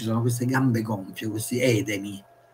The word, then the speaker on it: edemi: queste gambe gonfie questi edemi in greco dove ci mette l'accento sulla terzultima Ed Emi in latino doveva avere al centro della penultima Questa è una chicca